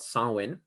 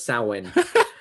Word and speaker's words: Samhain: But so Halloween is based on a festival called Samhain. It's a Celtic festival. and it's not spelled the way it sounds, so it's really confusing.